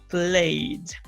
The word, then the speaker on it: played: And when an ed ending, the word ends in a voiced sound, the ed is pronounced like a D. So, played.